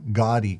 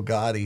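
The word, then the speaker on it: Gaudí: If I remember right, too, it's where the term Gaudi comes from. Yeah. You know, people are like, oh, that's so gaudy. Uh-huh. And it's a mispronunciation of Gaudi, which is that kind of flamboyant architecture style.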